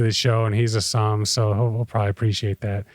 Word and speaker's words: Somme: That's how you pronounce it. Somme. As sommelier.